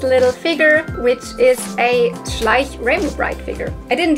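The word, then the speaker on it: Schleich: or CL SCH or something like that it's pronounced SCH um and um they they're still making these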